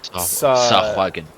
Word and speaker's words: Sahagin: Yes, the Sawagan. I don't even know how to pronounce it. How to pronounce Sawagan? There we go. Rat. Sahagin.